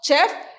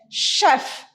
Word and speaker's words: chef: most of the time we will pronounce that this has chef it's not chef is chef how do you pronounce this chef shadow sha do